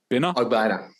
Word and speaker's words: Ogbonnia: How do you pronounce his name? Ogbonnia.